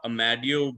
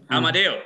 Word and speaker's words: Amadeo: so much um amadeo it's actually amadeo all right like the musician uh yes i have